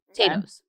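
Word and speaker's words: Tayto: irish thing and they're called potatoes potatoes t-a-y-t-o potatoes gemma loves when i say it like that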